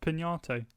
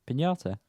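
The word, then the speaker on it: Piñata: pronounced Pinate. No. Pinata. It's got a little thing over the end, so it's in yeah.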